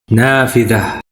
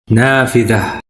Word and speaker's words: نافذة: Here we see tied T appears at the end of a feminine singular word and is pronounced as an H sound in English, since it's at the end of a word and no suffix follows it.